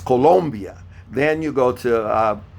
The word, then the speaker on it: Colombia: the clock uh Venezuela Colombia don't say Colombia Colombia that's a o colia okay I know we've been uh pronouncing it differently in in the United States of America but it's Colombia then you go to